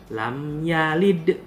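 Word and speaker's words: لم يلد: Jadi, ketika membacanya, huruf dal saat mati harus dipantulkan. Bagaimana dipantulkannya? Lam yalid. Lam yalid walam yulad. Ada huruf E-nya. Lam yalid walam yulad. Itu yang namanya memantul.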